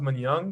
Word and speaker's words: Manyang: now even i'm just i know it's pronounced man young because he told me but like he told